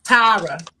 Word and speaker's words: Tara: not even paying attention and she's Tyra and she said my name and when she said it I said that's the that's my name that's the pronunciation of my name even though I was